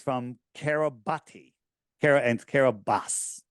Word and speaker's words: Kiribati: And it's Kiribati, but I'm going to call it Kiribati because that's how it's spelled. And all the people in Fiji can be mad at me.